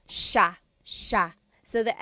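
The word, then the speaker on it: siya: It looks like it should be pronounced sa cia but it's actually pronounced sha sha.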